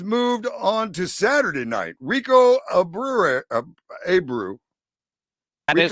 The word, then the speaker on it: Rico Abreu: Rico Abreu.